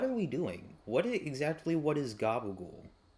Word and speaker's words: gabagool: What is gabagool? Like, actually, you know what? I'm gonna see if this is an actual like meat. Oh, it's just It's an Italian American slang pronunciation for capicola, which is a traditional